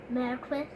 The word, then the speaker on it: Marquis: And your brother and I have told you that that word is pronounced how? Marquis.